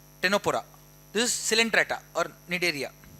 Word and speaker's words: Ctenophora: It is pronounced as Ctenophora. C silent here. Ctenophora.